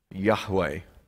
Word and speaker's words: Yahweh: the name of god most bible scholars would agree that the expected pronunciation is the one i've just used yahweh the reason for this